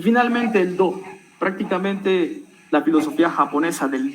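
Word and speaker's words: 道: Y finalmente el Do, prácticamente la filosofía japonesa del Do, del camino. Por ejemplo, Karate Do, Kendo, Judo, Aikido, en fin, todo termina en Do, es un objetivo final, es una meta.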